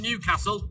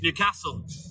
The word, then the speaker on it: Newcastle: Notice how I pronounce that, Johnny Francis. It's not Newcastle, it's Newcastle. See, I'm good, me, mate.